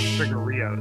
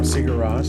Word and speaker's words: Sigur Rós: I always call them Sugar Rios. Oh, Sigur Rós. Sigur Rós, yeah.